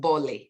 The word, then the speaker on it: bole: would say it's called bole that's the traditional way of pronouncing it i'm from nigeria the